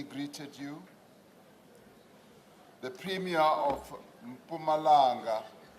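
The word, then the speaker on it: Mpumalanga: Some people who can't pronounce Pumalanga often say Mapumalanga. But the premier himself when he is in full flight and really delivering a major speech he doesn't say he says pumalanga executive mayor of kibande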